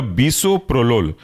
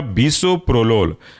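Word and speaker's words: bisoprolol: आपका एसे ब्यूटो लोल next example है आपका बसो प्रोलोल स्पेलिंग है बसो बी आई एस ओ प्रो पी आर ओ प्रो और लोल एल ओ एल जुड़ कर के बनेगा बसो प्रोलोल नेक्स्ट एग्जांपल है आपका एस्मोलोल स्पेलिंग है एस्म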